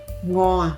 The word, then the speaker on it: 午仔: Today we are going to share a home-cooked dish of our family, "Pan-fried Threadfin" How do you say Threadfin in Taiwanese? -- Ngóo-á, Ngóo-á fish There are several types of Threadfin; this is from the sea.